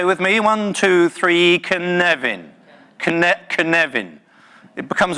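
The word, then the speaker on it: Cynefin: it's this funny little word here and it's pronounced can even say with me one two three can Nevin connect and Nevin it becomes a bit of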